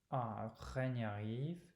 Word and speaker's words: règne arrive: Either way, that's how I learned to pronounce it. Règne arrive. And it's actually one of those things that's pretty rare. So even a professor of phonetics that I had was really intrigued by it. It would have never occurred to her to have pronounced the two words like that.